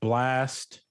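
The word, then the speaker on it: Blxst: You have Blast, but it's spelled as BLX. X is in X-ray, S is in Sierra, and T is in Tango.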